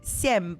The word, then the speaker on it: семь: Like simp? Like simp. Sem. But you don't do the P at the end.